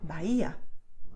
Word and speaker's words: Bahía: Then, if you see the letter H, you know that H is silent in Spanish. So you should write it, but you will not say it aloud. So it has no sound. You say Honduras, Bahia.